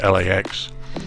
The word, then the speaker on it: LAX: Los Angeles International Airport, KLAX, often referred to as just LAX, with each letter being pronounced individually, in other words LAX, is a public use